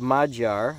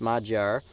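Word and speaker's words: Magyar: in their own languages we have mod jar I think that's how it's pronounced mod jar and that is hungry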